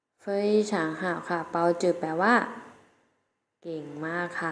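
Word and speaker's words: 包子: ออก เสียง สิ คะ มี ไฟ ช้างให ขา เปาจื่อ แปล ว่า เก่ง มาก ค่ะ ใน ภาษา จีน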